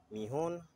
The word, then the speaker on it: Mihon: let's go into new tab let's type in meon right that's how you spell it m i h o n then you